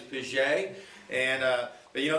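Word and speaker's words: Piggee: name is abraham vijay it's spelled p-i-g-g-e-e i had them in class i called him piggy for about two or three days before i realized it was pisje and uh but you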